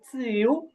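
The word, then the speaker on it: 九: 9 হবে চিউ, চিউ। আর 10 হবে শি। এটা হবে রাইজিং টোনে। হ্যাঁ, শি, শি। তো আমি আরেকবার বলতেছি, আপনার মনোযোগ দিয়ে শুনুন। লিউ, সি, পা, চিউ, শি।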